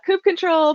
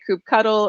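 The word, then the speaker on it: kubectl: of ongoing friendly debate there are people who say uh coup control people who say coop cuddle or coop cuttle uh i know one one person hello duffy if you're watching who says coop kettle and um and i just say koop cdl um all of them are you know special and valid in their own ways uh except for kukota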